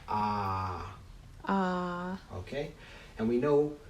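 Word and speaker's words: ㅏ: a and this configuration this character here is pronounced as a in father ah ah okay and we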